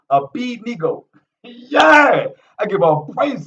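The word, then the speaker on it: Abednego: beat nego a bendigo they wanted to pronounce it a bendigo is i b nico is how his name is pronounced a-b-e-d-n-e-g-o a b-nego yeah i give all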